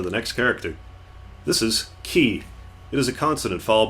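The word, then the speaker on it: き: This is ki. It is a consonant followed by a vowel and makes up a single syllable.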